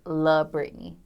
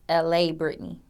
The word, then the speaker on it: La'Britney: So many people think my name is L.A. Brittany, but it's not. I'm not from L.A. I'm from Detroit. And it's La Brittany.